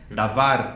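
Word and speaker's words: דבר: né então a palavra davar ela se escreve com a letra D corresponde ao som da letra D A letra V corresponde ao som da letra V e res que é corresponde a letra R né davar palavra e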